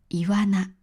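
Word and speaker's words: 岩魚: 岩魚と書いてイワナと読みます。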